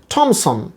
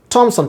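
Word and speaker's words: Thomas: অনেকেই বলে থমসন অ্যান্ড মার্টিনেট, actually থমসন না, উচ্চারণটা হবে থমসন, থমসন, টিএইচের উচ্চারণ এখানে টা, থমসন।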